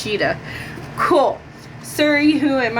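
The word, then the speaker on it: Tschida: By Sam Tishkaba. This Cheetah. Sam Cheetah. Okay, it says pronounced Cheetah.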